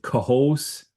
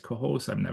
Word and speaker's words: Cohoes: is the problem I have now trying to pronounce New York names- "Cohoes" outside Troy- is that right Cohoes.